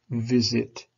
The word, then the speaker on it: visit: So visit, vis, it. The first part is stressed, it's stronger. Vis, it. You can hear that rising, falling.